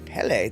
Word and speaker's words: Hölle: Mark Twain said the German word for hell is Hölle. Hölle. Helle. Oh, hele. That's not how I would... Hele, and it rhymes with jelly.